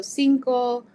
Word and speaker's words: cinco: more like a K, but then if there's an I or an E, it'll sound more like an S. So cinco or cielo, it has more of that S sound at the beginning.